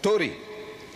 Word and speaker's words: Tory: Tory. How you pronounce it?